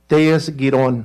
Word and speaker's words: Tellez-Giron: Tellez-Giron, that's the way you pronounce it.